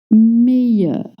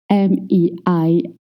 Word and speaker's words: meilleur: The sound you, like you or yes, because in French, most nouns spelled with ILL makes the sound ye. Meilleur, meilleur.